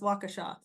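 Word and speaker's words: Waukesha: can tell I'm from I've lived in Wisconsin I can pronounce wakaa in University of Iowa and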